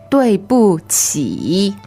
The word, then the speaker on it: 对不起: 对不起对不起 All right, now 对, this is spelled D-U-I. That is fourth tone, right? Correct. And 不 B-U. It's actually neutral in this phrase. And then 起, Q-I. What's the tone? Third tone. 起 means go down and up. 对不起 Okay, so 起, that's with a Q. And Q, again, is pronounced with the tip of the tongue below the lower front teeth, if you can pull that off.